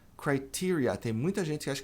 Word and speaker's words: criteria: Criteria. Tem muita gente que acha que criteria é o singular, mas não é. O singular é criterion, plural criteria.